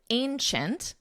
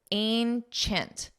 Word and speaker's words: ancient: The Coliseum is the largest ancient. Notice the pronunciation ancient Chint. Ancient, Ancient. And it's a very nasal a sound.